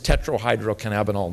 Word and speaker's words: tetrahydrocannabinol: it was hypocritical was two percent thc it's tetrahydrocannabinol nine by the way is how it's pronounced paul can do me one better i'm